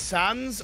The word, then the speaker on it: XANZS: Oh, the XANZS player is used to be known as Sans. I think it's still pronounced the same, but instead of an S, it's an X.